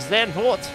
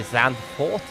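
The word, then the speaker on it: Zandvoort: do 36 laps of zen port this evening i should say sound port that's actually how it's meant to be pronounced but everyone speaks english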